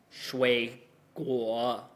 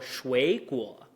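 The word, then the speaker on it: 水果: So we won't go 水果. We will go 水果.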